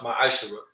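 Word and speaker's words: מעשר: Means tenth in Hebrew and is pronounced ma'ashara.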